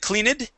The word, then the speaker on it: cleaned: uh you had said cleaned this is a d ending cleaned cleaned good good nice job let's